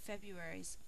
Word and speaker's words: February: year just like january february's first syllable is accented which means that we say february we think to spell